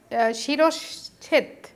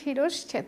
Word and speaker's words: শিরশ্ছেদ: এটা ছয়ের সাথে সংযুক্ত তালব্যস্য, ছয়ের সাথে কিন্তু চ না, উচ্চারণ হচ্ছে শিরশ্ছেদ, সঠিক উচ্চারণ হচ্ছে শিরশ্ছেদ।